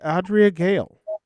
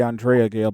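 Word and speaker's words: Andrea Gail: the fishing boat the adrea Gale Bobby what is the perfect storm and I realized I butchered the name of that as the Andrea Gale but you are correct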